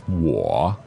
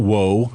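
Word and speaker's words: 我: that's right okay w o third tone is war it's not woe right it is pronounced uh differently from what we pronounce in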